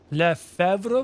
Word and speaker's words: Lefebvre: Lefebvre, the silent B, by the way.